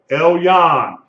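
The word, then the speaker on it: עליון: It would be L and then Y-O-L. Elyon.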